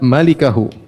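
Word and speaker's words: ملكه: Ternyata bacanya yang benar illa malikahu.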